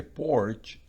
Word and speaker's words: porch: Pero en porch se pronuncia como una O prácticamente en español porque no lleva la rayita para ustedes.